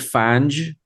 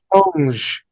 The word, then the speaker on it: Fange: I'd been calling them Fang, which is incorrect. It's Okay, Fange. Fange. Fange. They're Yeah. French, so I think it makes sense.